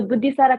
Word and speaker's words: Buddhisara: नाम राख्ने बेलामा चाहिँ they initially named me to rhyme with my sister. So my sister name is Apsara, so my name is Buddhisara.